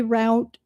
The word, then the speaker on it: route: and and since then even if people normally say route they usually say root. So if you look it up you know then it talks about British pronunciation and English pron and then are you using it for this purpose and that purpose. So say what you want but generally for this highway it's root.